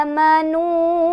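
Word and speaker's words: آمنوا: mad ya, dengan mad, sehingga menjadi amanu bukan a'manu lagi. Itu asal usulnya ya. Jadi amanu ini panjangnya 2 harokat sama kayak mad tabi'i.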